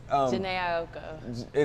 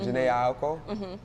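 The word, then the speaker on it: Jhené Aiko: Janae Aiko. That's how you say it, Janae Aiko.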